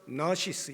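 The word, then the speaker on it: gnosis: 똑같이 그 옷이 있어요 근데 g가 묵음이에요 그래서 나시스 이렇게 영어로는 발음을 하는데이 근호시스에서 유래되었어요 그래서 일반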